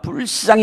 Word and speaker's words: 불쌍히: 이 불자에 여러분 좀 액센트를 두시고 좀 이렇게 길게 발음을 하셔야 됩니다. 불쌍히 여기사.